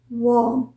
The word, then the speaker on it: warm: है ना डब्लू ए आर एम इसको हम प्रोनाउंस करते हैं वर्म वर्म राइट और डब्लू ओ आर एम इसे